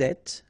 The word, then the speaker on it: êtes: Vous êtes, little liaison to between the two and then final S not pronounced.